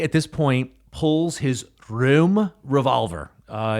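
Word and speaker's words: Röhm: So, um Hinckley at this point pulls his room revolver. Uh, it's spelled R O with a little German dip thong over it. Hm. I believe that's pronounced room.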